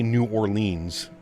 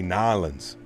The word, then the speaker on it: New Orleans: You can't say New Orleans. You have to say Nalins or There's an updated link on the forum for PMGD.